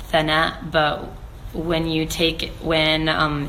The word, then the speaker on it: Sana: so my name in Arabic would actually be pronounced Sena but when you take when Indian culture Pakistani